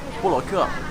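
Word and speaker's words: 布罗克: Bu, le, ke. Okay. That's okay? Yeah, that's okay. How do you say it? So ke. say it normal, like you were going to say my name. 布罗克.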